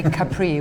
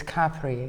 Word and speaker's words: Capri: do the Brits say Capri when it's Capri? Why do they pronounce it the French way?